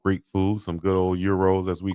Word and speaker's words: gyro: Yeah, you go in the South somewhere and they'll pronounce it how we see it. That's gyro, but euros as we call them, I love them.